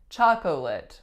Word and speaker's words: chocolate: word chocolate chocolate and it really looks like chocolate chocolate or chocolate but we totally get rid of that middle syllable most of the time and just say chocolate chocolate I made her